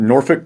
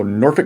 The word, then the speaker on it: Norfolk: because growing up but when you're talking about norfolk and suffolk you get to cuss so norfolk virginia suffolk virginia you always tell someone who